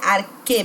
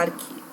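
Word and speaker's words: ἀρχή: E é arque mesmo, com o ezinho fechado, embora vocês vejam aí com acento. Se escreve assim, se fala arque.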